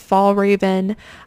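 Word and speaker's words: Fjällräven: on eBay is this I think it's pronounced fall Raven um which is a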